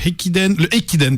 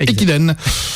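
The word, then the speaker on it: 駅伝: Japon, qui est le Ekiden, pardon, parce que je prononce mal et j'ai rajouté des H, ça sert à rien. Le Ekiden, avec l'université de Komazawa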